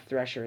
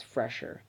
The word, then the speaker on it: Fresher: I was saying it wrong. It's not Thresher, it's Fresher.